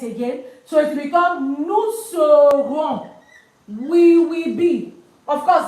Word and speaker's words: nous serons: So it becomes nous serons. We will be. Of course, the s is not pronounced. Don't forget. So nous serons, we will be.